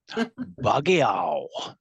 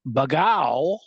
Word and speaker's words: Bagao: Padri brought 2 male cats named Ali and Bagao, which rhymes with meow. Bagiao. They were half grown when they came. But Bagao was the friendlier of the two.